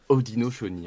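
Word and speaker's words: Haudenosaunee: ça très loin tout à fait ça se prononce odino choni en fait ouais alors pourquoi je ne sais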